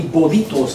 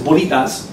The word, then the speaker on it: bolitas: and he's called the Bolitos King. You know, so Bolitos King, it's spelled wrong, it's Bolitas, right?